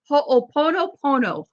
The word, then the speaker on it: Ho'oponopono: Ho'oponopono.